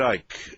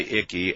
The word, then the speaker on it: Icke: they called me um ike um dwight yeah i mean that you don't pronounce the c um actually funny enough